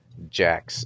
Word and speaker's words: Jax: jackson actually oh jackasses jax is his name which incidentally rhymes with racks oh god oh whoa